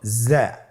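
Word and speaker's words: ز: পরবর্তী হরফটির নাম হলো জ্যা।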